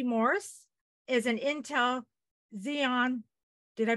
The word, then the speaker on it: Xeon: today so Michael V Morse is an Intel Xeon did I pronounce that correct yes thank you uh processor